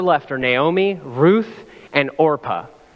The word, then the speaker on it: Orpah: are Naomi Ruth and orpah I was terrified I was going to mispronounce that as Oprah I did that a couple of times anyway Ruth and orpa